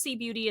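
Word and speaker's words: Sieh Beauty: It's pronounced C Beauty. It's SIEH and then beauty on all my socials, TikTok, Instagram, Facebook.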